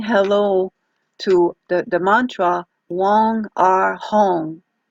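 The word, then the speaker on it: Weng: So Wong will be the area of the head, the sound Wong, W-E-N-G, that's pronounced Wong.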